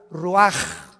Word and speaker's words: Ruach: Así como suena, se pronuncia la CH en hebreo como J, Ruach.